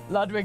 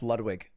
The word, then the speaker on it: Ludwig: this time rayne wilson my name is pronounced ludwig not ludwig although correctly it is pronounced ludwig but i'm just not german i'm a white american